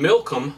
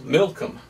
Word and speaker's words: Milcom: So they're giving other names of them, and the other name of this one was Milcom. Milcom. Almost sounds like Malcolm.